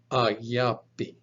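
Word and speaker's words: ἀγάπη: Look, for example, at this word, alpha, gamma, alpha, pi, eta, pronounced ayapi.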